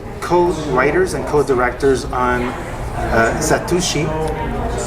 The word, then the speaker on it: Satoshi: and co-directors on uh satosi if I'm pronouncing it right Satoshi satosi it's not a z it's an S um the embargos lifted